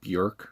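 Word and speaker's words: Björk: um then we have bjork uh or i think it is pronounced like bjork or something but um anyway her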